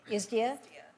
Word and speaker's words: ISDA: I call it ISDA. Does anybody else call it ISDA? There's been such debate about the correct pronunciation. So as a committee, I would like us to agree on just calling it isdia.